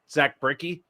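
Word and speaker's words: Brzykcy: Before the season, I like Zach Bricky. That's how you pronounce that name.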